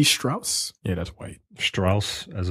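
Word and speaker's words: Strouse: rude no they were written by James C Strauss yeah that's white Strauss as in Levi Strauss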